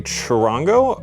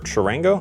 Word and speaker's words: charango: So this is a charango, or charango, I think charango is how you pronounce it.